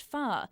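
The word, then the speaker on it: 发: ba, and sounds like the word for prosperity or wealth, which is pronounced fa.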